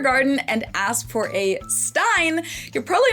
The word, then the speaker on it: Stein: Most Americans pronounce this as Stein, and it refers to a beer mug. In German, this word is pronounced Stein. ST at the beginning of a word always turns the S into a sh sound in German.